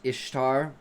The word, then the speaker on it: Ishtar: The goddess Ishtar pronounced the same as Easter.